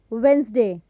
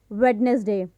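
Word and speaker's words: Wednesday: तो वह नहीं आएगी तो इसका जो करेक्ट प्रनंसीएशन होगा वह होगा वेनसडे नॉट वेडनेसडे for example will arrive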